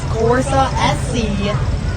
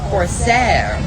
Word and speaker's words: Corsair: This is Corsa SC. Here they are, lined up and ready to go. Merry Christmas, an awesome group of vehicles. Corsair. Oh my, wrong mispronunciation. Corsair.